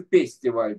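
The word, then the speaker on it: פסטיבל: фестиваль называется пестиваль, то есть П читает, Ф читается как Ну, П, хорошо.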